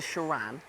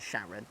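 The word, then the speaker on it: Sharan: a car it's called It's pronounced the shiran but it just looks like it says a Volkswagen Sharon right okay so then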